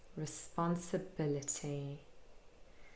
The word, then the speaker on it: responsibility: It's responsibility. So we have responsibility, 6 syllables.